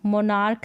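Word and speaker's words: monarch: बताया फिर एक है यहां पर भी क को के पढ़ रहे हैं मोनार्क है यानी के पढ़ रहे हैं क को तो क का साउंड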